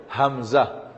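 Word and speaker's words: همزة: অক্ষর আমরা লিখি নাই তবে এর উচ্চারণটা হবে হামজা হামজা হামজা এবার তাহলে আমরা ব্যঞ্জন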